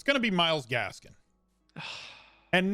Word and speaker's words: Myles Gaskin: And it's going to be Myles Gaskin. And not because his name rhymes with Carol Baskin.